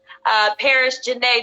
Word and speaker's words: Paris Janae: Well, I was just getting the world acquainted with you, teen model, actress, and dancer, Paris Janae.